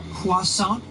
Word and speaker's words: croissant: It's actually pronounced croissant.